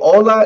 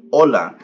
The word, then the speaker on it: hola: to say hola so Ola is pretty much um in Spanish it means hello but here's the trick about um using um using words in Spanish with the H the H is silent so you just pronunciate